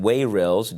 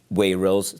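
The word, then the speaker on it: Wayrilz: by the FDA of the United States called wayils. W A Y R I LZ is how you spell it.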